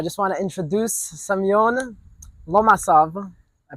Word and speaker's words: Lomasov: So I just want to introduce Semyon Lomasov. I pronounced it right? Yes, Uh, Lomasov.